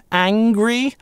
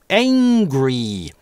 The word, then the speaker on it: angry: Mario was angry - в британском английском здесь в первом слоге будет /æ/, angry, американцы реализуют этот звук перед [ŋ] как , angry.